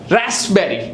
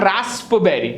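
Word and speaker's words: raspberry: is called a कू रास्पबेरी नॉट रास्पबेरी you know there E एन ice cream mango Dolly and रास्पबेरी सो द पी is silent pneumonia not पिनोम बट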